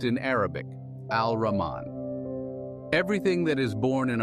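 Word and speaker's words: الرحمن: Duality the apparent and the hidden Mercy now pronounced in Arabic al- Raman everything that is born in our time and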